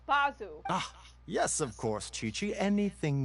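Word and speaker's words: Baizhu: coconut milk bite you I don't care if that's how you say his name is bazu yes of course Chichi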